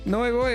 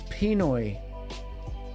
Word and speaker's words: Pinoy: Noi boy. Hello. I keep saying Noi boy, but it's Pinoy.